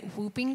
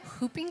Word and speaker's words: whooping: I don't know okay for an American you might say whooping cough but apparently there's a silent W in Australia hooping cough that's weird right that's a confusing spelling anyways so I could